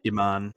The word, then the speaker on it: Iman: David Bowie as the shape shifter, Marcia Eman, Iman, however you pronounce her name. Iman.